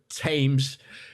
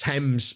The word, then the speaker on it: Thames: can't use the word you can't use the word tames to make a rhyme it's pronounced Thames it's in there and